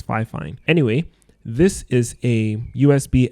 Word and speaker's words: Fifine: I know a lot of people think it's pronounced Fifine, but apparently it's Fifine.